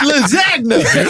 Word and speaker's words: lasagna: His dad thought he was gay just for knowing what lasagna was. Sure. Yeah. He said, what? Hey, you pronounce that G in this house. It's lasagna. Ain't no goddamn Frenchman.